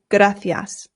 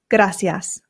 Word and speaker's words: gracias: And here in Spain, they pronounce the C's with a th sound f. So this becomes gracias.